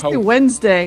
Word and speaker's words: Wednesday: I don't know why they spell it with so many letters. Nobody says it like that. Nobody say say like Wednesday. We make it two syllables.